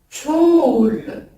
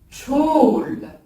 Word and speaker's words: çoğul: Alors, le pluriel dans la langue turque, ça se prononce çoğul. Je répète, çoğul.